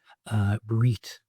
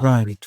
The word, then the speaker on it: reet: And one pronunciation we haven't mentioned is reet for right, or reet for all right, or neat for night.